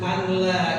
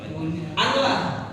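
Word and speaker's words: أن لا: ya azan atau ashadu alla ilahaillallah ashadu alla jadi bacanya apa anla anla enggak dibaca apa anla id idgham itu juga salah jadi wajib gun eh wajib wajib id syahadat itu wajib idgam baik dalam salat maupun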